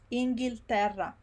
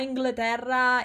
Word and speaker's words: Inghilterra: A trick with very long words is to make sure that you're pronouncing every syllable. So you pronounce it slowly first. In, gil, ter, ra. Inghilterra. It's not Inglaterra, it's not Angleterre, it's not Inglaterra, Inghilterra. This bit is Ingil, and this other bit is terra. Inghilterra.